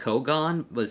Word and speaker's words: Kougaon: Is like Kougaon, so it's KOUGAON. I had to make sure I know how to spell it.